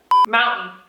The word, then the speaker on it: mountain: Mountain. Mountain. Internet. Internet. Muito interessante essas palavras. Se você reparar, o T está sumindo completamente. Então você falou mountain, montanha, né? Parece que fica preso na garganta aqui.